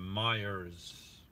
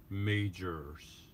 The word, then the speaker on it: Meijer: You have to say majors, major near you, and then she'll give you the right store.